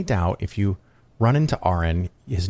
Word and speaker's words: Aron: you have any doubt if you run into aren his name is pronounced like a nurse are in are in